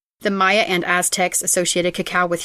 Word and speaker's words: Maya: And I have for years been pronouncing it Mayan, like the Mayan people, but every reference I saw to it said Maya.